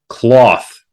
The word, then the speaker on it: Klauth: Number 3, Cloth, which is spelled Klauth, Unrivaled Ancient, is about $28 with a 74% increase.